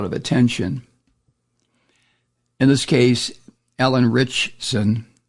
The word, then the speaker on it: Alan Ritchson: In this case, Alan Ritchson. How do you say it? Ritchson.